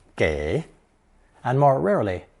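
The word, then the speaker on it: 给: a person three today's second character is commonly pronounced gay and more rarely G G both meaning to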